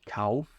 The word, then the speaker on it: kaufe: eles leem dessa maneira, mas esquecem de pronunciar o E ali no final. esse E tem que ser muito bem pronunciado, tá? Então, ich kaufe olha só o som, é um E.